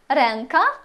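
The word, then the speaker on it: ręka: або еносове всередині слів вона промовляється як м або ен залежно від наступної приголосної земби зуби ренка рука еу земби ренка в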